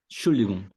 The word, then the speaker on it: Entschuldigung: Lembrando que no dia a dia eles vão falar mais assim, ó, vão eliminar esse comecinho, o ENT fica fora e fala só Entschuldigung.